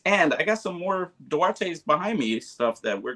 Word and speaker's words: Duarte: In high school and growing up, it was Duarte. It's pronounced Duarte. Like, that's kind of why it fits, right? And because that's what I do, right? I do art, right?